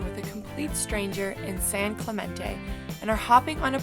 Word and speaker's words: San Clemente: San Clementine we're in San Clemente Clemente oh Clemente San Clemente I think that's how you say it and we're packing up